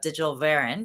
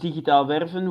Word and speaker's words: Digitaal Werven: It's officially pronounced digitaal werven, which literally means digital recruiting in the Netherlands, which basically tells you how long I've been at this.